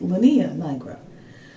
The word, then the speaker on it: linea nigra: Now, the next thing I wanted to talk to you guys about is the Linea nigra. I've also heard it pronounced as Linea nigra, but that is the line that develops on your tummy during pregnancy, and it's due to hormonal changes.